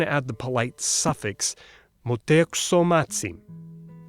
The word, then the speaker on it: Motēuczōmatzin: But out of respect, you might want to add the polite suffix Montezumazin. Did you hear that? Tsin, not tsin. Certain consonants were voiceless at the end of a syllable.